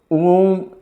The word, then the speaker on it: ओम: ओम का उच्चारण ऐसे करना है, देखो, ऐसे ऊ का उच्चार सिर्फ 6 या 8 सेकंड तक की करना है, बाकी म को लंबा करना है ऐसे।